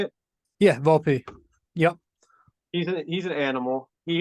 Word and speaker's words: Volpe: Yeah, Volpe.